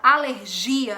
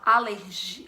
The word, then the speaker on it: alergia: a pronúncia é diferente em português a gente fala alergia alergia dando enfoque maior no gia dando essa sílaba tônica nos gia e em espanhol a sílaba tônica é no início fica aléria entendeu é